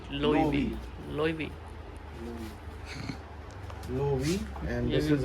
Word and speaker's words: Loewe: Okay, this is pronounced as Loewe. Loewe.